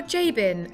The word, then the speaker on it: Jabin: foreign this is bert jabin marina or jabin as the americans pronounce it nestled in the beautiful